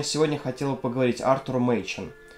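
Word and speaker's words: Machen: сегодня хотела поговорить артур минчин на самом деле его фамилия читается как макин поскольку он валлиец но в русском приводят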